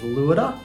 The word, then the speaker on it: Luoda: what else you got I pronounce the band name luoda but I understand that the correct pronunciation is Luda well I pronounce it